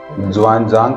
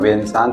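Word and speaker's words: Xuanzang: सुना है नहीं अच्छा हम लोगों को हिस्ट्री बुक में नसांग के नाम से पढ़ाते हैं जो एक्चुअल स्पेलिंग उसकी है एक्स से एक्स यू ए एन वान जांग तो यात्री था चाइना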